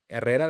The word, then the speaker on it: Herrera: like people know that I like to roll my R's because that's how Herrera, that's my name.